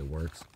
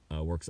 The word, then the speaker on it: WRX: Here's a Subaru Works STI. At least that's how I like to pronounce it. It's a WRX, of course. I just say Works.